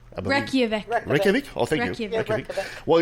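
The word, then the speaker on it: Reykjavík: So he traveled, and on his visit to Iceland well, I'm pronouncing this right, Reykjavik? Reykjavik.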